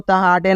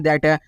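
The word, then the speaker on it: that: टी क्या दैट दोस्तों आपको त हाटे नहीं पढ़ना दोस्तों क्या पढ़ना है दैट क्या पढ़ना है दोस्तों दैट पढ़ना है ठीक है तो दैट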